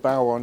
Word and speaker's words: Bodhrán: And there's lots of different ways to pronounce it, but I've been told Bodhrán is the proper way to pronounce it.